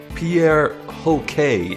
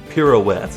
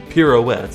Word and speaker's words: Pierre Hoquet: Oh, yeah, also, Pierre Hoquet. No, it's apparently pronounced pirouette. It's pirouette, as in the ballerina move, where you spin around.